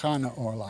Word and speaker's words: Chana Orloff: Her name is actually pronounced Chana Orloff.